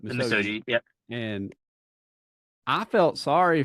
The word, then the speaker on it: Misogi: I've been pronouncing it wrong. I've been saying Misogi, but Misogi.